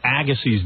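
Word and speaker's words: Agassi: I was sick uhhuh why are you mispronouncing his name lately ausy yeah okay Andre Andre Agy it's really Agy I don't think I'm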